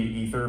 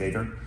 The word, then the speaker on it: aether: So ether spelled with an A is supposed to be ether, but I didn't want it pronounced like that, so it's aether.